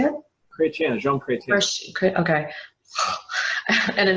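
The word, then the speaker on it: Chrétien: Chretien, Jean Chretien.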